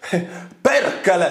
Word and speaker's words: Perkele: Satana, Perkel, Vito. Perkele, Satana, Vito. That's how you say it.